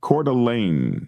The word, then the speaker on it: Coeur d'Alene: Coeur d'Alene is how it's said.